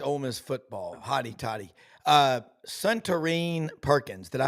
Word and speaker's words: Suntarine: Suntarine Perkins. Did I pronounce Yeah, that correctly? yeah, Suntarine.